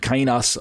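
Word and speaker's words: καινός: I pronounce it kainos.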